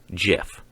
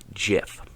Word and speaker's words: GIF: Although it's actually GIF. I know it's a huge debate, but it's GIF. The creator of the file pronounces it GIF. The creator gets to name it.